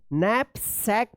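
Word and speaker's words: knapsack: नैपक पढ़ेंगे इसको। ठीक है? तो इस तरह से जो है आप के साइलेंट वाले वर्ड्स को पढ़िएगा।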